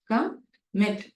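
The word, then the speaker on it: commit: கமிட், wherein the second syllable is given stress.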